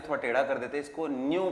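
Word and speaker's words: ν: व बनाते हुए थोड़ा टेढ़ा कर देते इसको न्यू प्रोनाउंस करते हैं एय न्यू ओके और जो स्पीड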